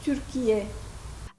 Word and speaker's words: Türkiye: C'est Turquie et on prononce Turquie.